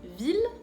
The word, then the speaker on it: ville: Cuidado, hay 3 excepciones, solo 3 nada más, que son ville, mille y tranquille.